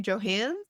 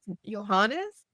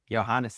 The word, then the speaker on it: Johannes: I actually don't know how to pronounce her name. Johans. Johannes. Johannes, it's very correct.